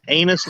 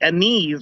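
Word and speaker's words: anise: no oh wait no it's pronounced a meat a knees or something like that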